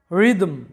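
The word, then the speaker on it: rhythm: করা এরপরে দেখো রিদম রিদম যেটার বাংলা অর্থটা হচ্ছে তাল তো এই রিদম শব্দে লক্ষ্য করো এইচ টার কিন্তু কোন উচ্চারণ হয় নাই এইচ টা সাইলেন্ট আছে এরপরে দেখো যেটার বাংলা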